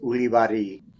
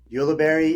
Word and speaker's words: Ulibarri: want um yeah so the the the accurate pronunciation is iiari it's a bass name from it's region between France and Spain the bast region um ulry is kind of just what people recognize it